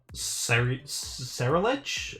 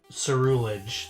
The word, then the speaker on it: Ceruledge: quad resist bug uh Sarah ledge I don't know how to pronounce this so you would Cerulean and then Edge to Sarah ledge ceruledge there we go uh yeah that I